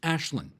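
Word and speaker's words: Aislinn: The MPP's name is Ashlynn Clancy viewed out to spell this for you because her name is spelled AISLYNN it's pronounced Ashlynn.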